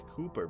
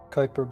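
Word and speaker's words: Kuiper: For example, one set of hands and markings corresponds to the Cooper belt or K. How do you pronounce that? Kyper belt.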